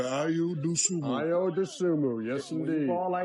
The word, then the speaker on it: Ayo Dosunmu: So how would Minnesota overcome the loss of 2 starters Ayo Dosunmu in this game? That's how. I tell you what. Exactly. Say his name correctly. Ayo Dosunmu.